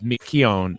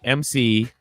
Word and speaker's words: McKeown: It's McKeown, McKeown. He's not Asian.